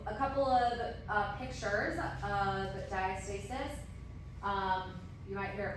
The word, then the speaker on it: diastasis: All right, so moving on to diastasis recti.